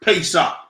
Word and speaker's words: Pesach: blue perfect so I look at this word pay sock the pay shop is uh uh Hebrew pronunciation of the word Passover it is a